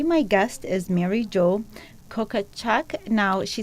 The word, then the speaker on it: Kokochak: Today my guest is Mary Jo Kokochak. Now, she said she's not going to kill me if I don't pronounce it correctly. Did I pronounce it correctly, Mary Jo? You said it perfectly.